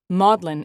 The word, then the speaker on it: Magdalen: By the way, Maudlin is spelled like Magdalene in the name of the hospital.